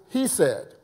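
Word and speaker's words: חסד: for for Mercy according to Strong's Concordance is pronounced he said that's h-e-s-e-d and it means unfell in love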